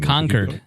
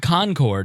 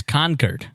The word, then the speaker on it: Concord: you pronounced it wrong conquered is how they say it it's not Concord it's conquered is how they say it conquered I was I